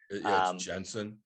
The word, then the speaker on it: Genson: ginson or ed jensen jensen yeah it's a g but it's kind of pronounced like a j okay yeah what do